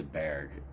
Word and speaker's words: Bargue: But what we're doing here is that we're working through the ultimate Bargue collection. I think his name is Bargue. In French, it would probably be pronounced Bargue.